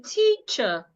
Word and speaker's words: teacher: Uh, uh, uh, so henceforth when I want to pronounce words that end in e and r, I will not open my mouth.